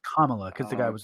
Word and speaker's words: Kamala: Oh, it's Kamala because they it's Kamala because the guy was like Kamala. it's like saying comma Kamala.